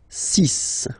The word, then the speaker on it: six: And be careful here, because even if it's ending with this x, well, you'll have to pronounce it like s, okay? So you get the six pronunciation, six, six. Okay, so it's not six, it's six, all right?